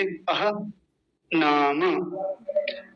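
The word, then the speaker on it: अह्नाम्: ऊ परर अ नाम नाम ये गलत है नाम ये सही है क्योंकि हलंत लगा हुआ है मेरे साथ बोलेंगे अह नाम नाम अरे मुझसे फिर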